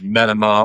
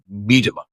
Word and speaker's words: Medema: pronounce my name correctly, a lot of people pronounce it wrong. Uh Medima or Mima or whatever. And I was several years ago, I was on this TV program, one of these Christian TV programs back in the 70s. And uh the guy who was the host said, "Now I want to make sure I pronounce Ken's name right." And my manager said, "It's Medima."